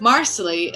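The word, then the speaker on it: Marsali: to tell the fans the way you pronounce marsley is like parsley so everyone since season three has gone around saying oh marsley like parsley and the irony of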